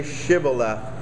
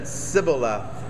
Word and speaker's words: shibboleth: would say to him say shibala but he said sibilath for you cannot pronounce it correctly and so you you get this this word shibboleth and and this is